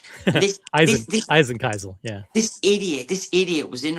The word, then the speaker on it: Eisenkiesel: The Heisenkiesel, the Heisenkiesel. Eisenkiesel, yeah.